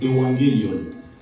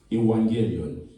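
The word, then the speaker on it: εὐαγγέλιον: Vous pouvez noter évangile en grec, c'est evangelion. Ça s'écrit E-U-A-2-G-E-L-I-O-N. E-U-A-2-G-E-L-I-O-N. Evangelion.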